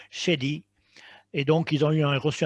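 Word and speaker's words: Schade: Oui, donc Shady, S-C-H-A-D-E, mais ils prononcent Shady.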